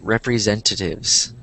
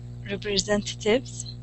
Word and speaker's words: representatives: Yeah, representatives. There you go. I think I didn't hear the S at the end. And it sounded like you said representative.